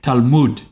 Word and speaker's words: Talmud: So let's go from Lehman Brothers to the Talmud. Am I saying that word remotely correctly? All right. Exactly correctly. Okay. Well, sorry. If you're an American, you're saying it correctly. Right. An Israeli would say Talmud.